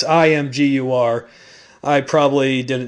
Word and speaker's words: Imgur: probably going to butcher this but uh mger imer it's Imgur I probably didn't say it right either way